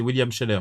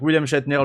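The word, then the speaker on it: William Shatner: une performance vocale de William schatner euh et à l'inverse les monelli qu' faut William chetner dont il faut prononcer le le nom très clairement sinon c'est william Scheller les gens donc William schatner le capitaine Kirk de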